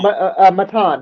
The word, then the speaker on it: Matan: How'd you pronounce it? No, Matan.